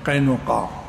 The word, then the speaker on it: قینقاع: کو نزیر پڑھتے ہیں۔ قبیلہ بنو قینقاع، یہ لفظ مشکل ہے، قینقاع اصل تلفظ یہی ہے۔ صحابہ کے نام بھی